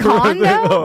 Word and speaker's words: Kondo: Is it No, it's Marie Kondo. Oh, we both got it wrong. Marie, is it Kondo? Yes. Like the place you live? But spelled with a K.